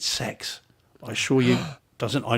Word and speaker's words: CeX: call it CeX right apparently you pronounce it sex I assure you doesn't